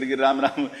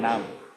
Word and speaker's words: Ram: Prabhuji, you are not chanting Ram, you are chanting Nam. Nam Nam Hare Hare. It's Ram Ram Hare Hare Hare Ram.